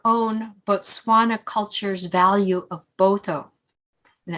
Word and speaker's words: Botho: In her speech, she said that her understanding of human rights comes from her own Botswana culture's value of Botho, and it's spelled B-O-T-H-O, which emphasizes the interconnectedness of all people.